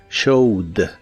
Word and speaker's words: showed: En el pasado es showed, se le agrega una ed pero no se pronuncia la e, solo la d, showed.